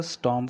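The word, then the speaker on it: storm: Another स्टॉर्म केम, another, another से क्या मतलब होता है? दूसरा। अनदर क्या बोलेंगे? Another, another. Okay, another स्टॉर्म, what is this? स्टॉर्म, नॉट स्टॉर्म, are silent है।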